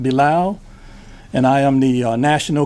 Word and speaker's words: Bilal: ly in deal in last name bi Lal pronounced Bulow and I am the